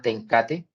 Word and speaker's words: TenCate: cliente que se llama tencate así como se escribe se pronuncia es una corporación neerlandesa